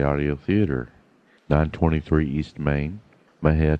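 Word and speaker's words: Mexia: theater 923 East Main Maha Texas Mah is spelled m x i a our ZIP 7666 M&J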